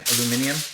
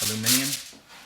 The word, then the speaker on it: aluminium: aluminum what is it what does the british say aluminium aluminium aluminium foil take the